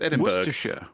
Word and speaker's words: Edinburgh: I mean, Edinburgh is not even spelled borough; it's spelled Berg. It's Edinburgh.